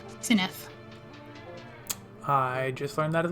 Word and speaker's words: Cinaeth: I've been pronouncing it the way that you said it. He was putting his pronunciation in chat and I completely ignored it. Cinaeth. It's like Cinaeth, but softer, I guess.